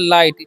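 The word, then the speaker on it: light: है एल आई टी तो इसे हम लोग क्या पढ़ते हैं लाइट ठीक है इसे लाइट बढ़ते हैं लेकिन यहां पर सेम ही लाइट पढ़ते हैं ना यहां पर जीएस साइलेंट होता है इसका भी आपको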